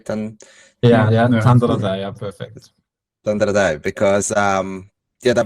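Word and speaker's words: Tandaradei: And I don't even know how to pronounce it. Tandaradai. Tandaradai, yeah, perfect.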